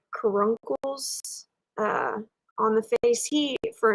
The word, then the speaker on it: caruncle: Caruncles is how you say it.